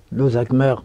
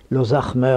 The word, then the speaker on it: Lozac'hmeur: Oui, eh bien, j'ai un nom breton, Lozachmer prononcé à la française, Lozachmer à la bretonne, qui veut dire le grand patriarche.